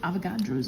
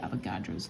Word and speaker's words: Avogadro: back to another chemistry video today's topic is avagadro's law so we are still in the gas laws and this is the third one we had Bo's law Charles law and today avagadro's law this is spelled a v o g